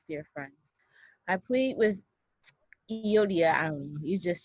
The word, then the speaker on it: Euodia: I pronounce them Euodia and Syntyche.